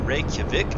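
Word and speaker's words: Reykjavík: Reykjavik, I think is how you say it. I'll have to lose some pronunciation and get up on my Icelandish language skills here.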